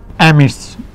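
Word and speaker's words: amidst: এই যে এটার অনেকগুলো অর্থে এখানে বসে হচ্ছে অ্যামিস্ট, অ্যামিস্ট ডিটা সাইলেন্ট থাকবে, অ্যামিস্ট, অ্যামিস্ট, অ্যামিস্ট অর্থ কি অনেকগুলোর মধ্যে।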